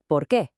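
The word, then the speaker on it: por qué: It's the question of why, or porqué. But the trick is that its answer is just a little bit different. And here is that small but absolutely crucial difference. To ask why, you say porqué.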